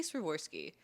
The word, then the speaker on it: Swarovski: How do you say Swarovski?